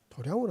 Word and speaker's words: 도량: 태권도 도장할 때는 도장으로 읽지만 수행 공간이 되면 어떻게 됩니까? 도량으로 안 됩니까?